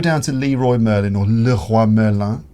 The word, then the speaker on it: Leroy Merlin: And you just go down to Leroy Merlin or Le Roi Merlin, as they say in France.